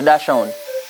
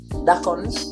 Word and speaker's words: Dachshund: Persons say Dachshund for German, and the English pronunciation is Dachshunds.